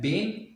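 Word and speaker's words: been: साथ, जो कि है बीन। जो आप फ्लो में बोलें तो बिन भी बोला जाता है और स्लोली बोलें तो बीन इसका प्रोनाउंसिएशन है।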